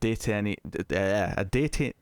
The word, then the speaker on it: detainee: the killing of a detainee. Why can't I say that word? Detainee. A detainee. I need to just emphasize that E like at the start for a long time to say it right.